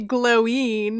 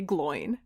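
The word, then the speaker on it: Glóin: and was like gloin it's definitely glowing and i'm like what no i have seen the movie and in the movie they say gloin so bam anyway that's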